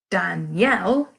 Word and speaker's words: Danielle: I turn it round said Danielle I've actually got a different name the stress level there falls on the yell and the damn is